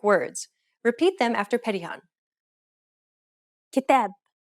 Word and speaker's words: كتاب: كتاب كتاب سلام سلام حدود حدود مراكز مراكز مفاتيح مفاتيح مسؤولين مسؤولين. See how the long syllable that is closest to the end of each word was stressed?